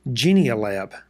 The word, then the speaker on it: Genial: this time folks because Mike sent me the correct pronunciation genial AB thank you Mike and